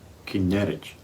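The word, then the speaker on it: Kinneret: E por causa do seu formato, né, como se fosse uma harpa, às vezes é chamado de kinerneret ou na pronúncia hebraica, kineret.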